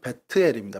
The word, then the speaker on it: 벧엘: 정확하게 이제 베델이라기보다는 발음은 베트엘입니다. 베트. 그래서 베트가 이제 집이란 뜻이고 엘은 이제 하나님을 의미하는 그 엘인데 베트엘이라고 해서 하나님의 집이라는 그 뜻을 갖고 있고요.